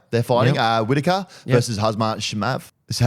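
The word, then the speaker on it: Khamzat Chimaev: Whitaker versus Hazmat Shimav. So how would you pronounce it? Well, I mean, if I was to spell it phonetically, it'd be Kamzat Shimaev.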